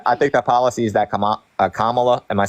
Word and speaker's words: Kamala: I think the policies that Kamala, am I saying it right?